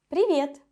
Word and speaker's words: Привет: Привет. Hello. Pay attention to the pronunciation. Привет. The sound that the letter V gives me is a little bit soft.